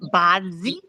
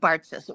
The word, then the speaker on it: Bartzis: you actually pronounce it Badzi, which is like Bartzis, but Yep. the Americans pronounce it Bartzis.